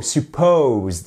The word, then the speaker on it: supposed: you must supposed supposed attention accentuation sur la seconde partie du mot supposed et c'est pas supposed